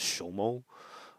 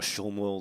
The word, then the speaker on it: XOMO: at uh x o I guess I'll pronounce it SHO um I was thinking just in general is Exon Mobile or showmo like a good deal